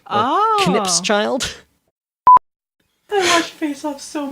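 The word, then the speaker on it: Knipschild: It's Nip's child with a silent K, I assume silent, at the beginning. Oh. Knip's child.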